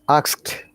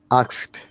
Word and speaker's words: asked: is another one ask asked asked help help helped helped very good in both of these cases the d sounds like t if you listen you